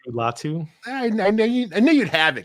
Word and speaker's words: Latu: Latu.